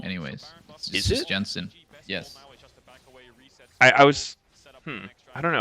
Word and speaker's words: Jensen: yes I don't know I heard some Europeans call him Jensen maybe because in their in their language and you know from wherever they're from the J is pronounced that way but I'm like it's Jensen it's like the exact